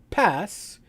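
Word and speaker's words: PaaS: or sas s-a-a-s platform as a service or pass p-a-a-s and infrastructure as a service which really we can't pronounce that we just call that iaas and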